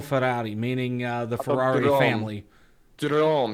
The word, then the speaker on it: Autodromo: Drome. You gotta pronounce that D. It's not Rome, it's Drome.